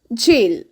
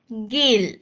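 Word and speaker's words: gel: आई सी is tragic ji ई एल इज जेल नॉट गेल एल ओ जीी आई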